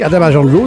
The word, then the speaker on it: Adama Janlo: Je suis au téléphone avec Adama Jandlo. C'est bien la bonne prononciation, Adama?